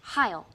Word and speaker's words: Hail: Hail Hydra. That is incorrect. What? I called in backup. It's pronounced Heil. No. It's definitely hail.